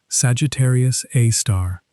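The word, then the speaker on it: Sagittarius A*: Astronomers call it Sagittarius Aar, pronounced Sagittarius Aar, a name that simply labels its position in the constellation Sagittarius.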